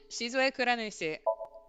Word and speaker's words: Shizue Kuranushi: Take it Shizu- syllable by syllable. Yeah, so Shizue. You got this. Nushi? Yep, Shizue Kuranushi.